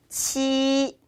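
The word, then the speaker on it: 七: 치, 치라고 읽습니다.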